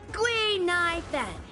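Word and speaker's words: Guinaifen: not a Ceno native my real name is but a Ceno friend came up with an authentic Ceno name based on the pronunciation gu NY Fen gu means finewood NY means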